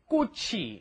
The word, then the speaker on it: 꽃이: Make sure your pronunciation is 꽃이, right? The chi moves up in front of the e, and that's a hard 기억 on there, right?